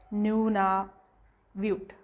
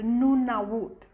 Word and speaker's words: Nunavut: you read exactly as it is it's like noona viewed and it's not pronounced like that because when it comes to